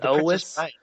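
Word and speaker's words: Elwes: It is Elis.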